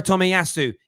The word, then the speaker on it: Tomiyasu: out on timiyasu a player heavily how you pronounce it takahiro tommy tomiasu takahiro tomiyasu is going to arsenal not tottenham leaf is